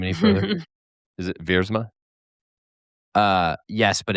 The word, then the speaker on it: Viersma: the HYROX Life for clearing up the proper pronunciation so I don't mess up his name any further. Is it Viersma?